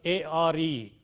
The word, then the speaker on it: are: The strong form is are, but the weak form is a. In a sentence like, the boys are playing. See, the boys are playing. The boys, A-R-E, is pronounced a.